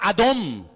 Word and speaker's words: adón: vez que decimos señor estamos pronunciando la palabra adom dice no es adonay no adonay es mi señor adón es señor y la palabra adón